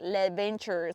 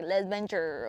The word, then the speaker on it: Les Ventures: your interpretation is but how I say it is like less venture.